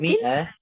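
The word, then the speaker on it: مائة: Miah Miah yaah miatin Miah Miah meskipun ada Alif ini tetap dibacanya Miah ohah wasalimah eh wasalim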